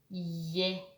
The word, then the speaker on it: ем: As if you pronounce the sound y at the beginning and then a, I, e, ya, yem.